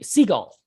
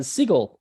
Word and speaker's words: Seagal: jason seagal and i'm like seagull seagull and i'm like he's not a seagull you know he's uh siegel like he's uh he uh just it tries to be nuts because it's not even spelled like with an a you know which would be cigal you know it's it's